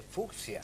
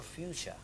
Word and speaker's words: fucsia: el fug botánico alemán se pronuncia en español como fusa con una Che suave en vez de fucsia en vez de fucsia Como dice la mayoría otra gente dice fuccia Claro porque como el español se pronuncia como se lee es una de las grandes ventadas pero en este caso por la alusión a fux ex la el término es color fiucha fiucha eso es algo que